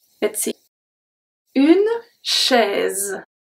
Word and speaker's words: chaise: This one is very interesting because we pronounce the S as a Z. Let's see. Une chaise.